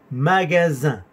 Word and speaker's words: magasin: Deuxième magasin. Zzz. Sonido S entre dos vocales y sonido nasal. Un.